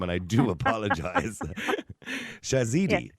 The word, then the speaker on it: Shahzadi: Shahzadi, is it? It is Shahzadi. It's Shahzadi, Dr. Shahzadi Harper, Okay. yes. I do apologise. Almost right.